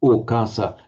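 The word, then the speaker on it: okāsa: Sometimes the ava in Pali as a prefix is softened or lenited to o, so okasa.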